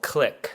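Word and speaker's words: Cliq: And then we were in a store in New York called Click. C L I Q. It's like spelled like in a way.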